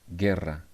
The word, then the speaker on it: guerra: But in the other case, like guitarra and guerra, we don't pronounce U. It's not guitarra, it's not guerra. It's guitarra and it's guerra.